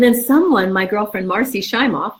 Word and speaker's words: Shimoff: bowl cup and then someone my girlfriend marci shimoff it's pronounced chimey thank you hey she gets that a lot